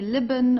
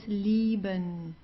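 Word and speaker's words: lieben: So you don't say liben or so it's liben.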